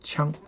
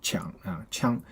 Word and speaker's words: 抢: rush and okay, so this character has another pronunciation called 枪枪 when you say 枪 that means knock or hit, okay, knock or hit. So there's a common idiom called 呼天抢地呼天抢地 this you should pronounce as 枪 not 抢枪 is knocking a hit.